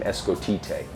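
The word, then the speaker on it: Escotete: I took my name Scott, and I broke it up phonetically, so S-C-O-T-T. Okay. I came up with this name Escotite. So E-S-C-O-T-E-T-E with a little accent on the end.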